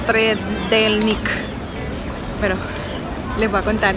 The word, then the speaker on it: Trdelník: ¿Cómo se pronuncia? Trdelník.